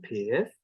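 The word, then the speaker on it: pyth: up the sounds of the long vowel in pith, which you'll notice I'm pronouncing with a slightly rising intonation, pith, ew, which is ew, kind of, with an e sound at the beginning, and then henna, where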